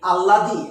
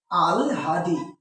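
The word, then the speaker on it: আহ্লাদি: আমরা অনেকেই ভুল করি আমরা অনেকে কি বলি আল্লাদি অনেকে কি বলি আহলাদি অনেকে এটা ভুল করি দেখো তো এখানে হয় ল আছে না হয় ল থাকলে প্রথমে কি আসবে ল পরে কি আসবে হ তাইলে এটার উচ্চারণ কি হবে আল হাদি তাইলে দেখো তো তাইলে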